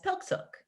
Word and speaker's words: PIQSIQ: And you are known as PIQSIQ, is that right? Yep, Yeah. nicely pronounced.